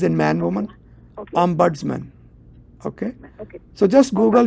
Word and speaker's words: ombudsman: So Ombudsman is Om as in Om, buds, Okay. buds as in flower buds, BUDS, man as in man woman, Okay. Ombudsman.